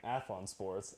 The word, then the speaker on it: Athlon Sports: Athlon Sports.